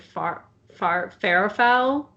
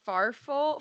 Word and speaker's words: farfalle: Is it farful? Far? It has like, it's Farfalle. Well, I always say bow tie, but like that's the typically the name. Like Google says you pronounce it farfalle. Farfalle. Farfalle. See, I'm already like farfel. Because in like Italian and Spanish, you like say the LE.